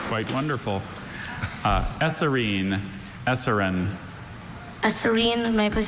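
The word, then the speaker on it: eserine: Esserine?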